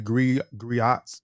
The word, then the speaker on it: griot: The griot, pronounced griot, have been referred to as historians and storytellers.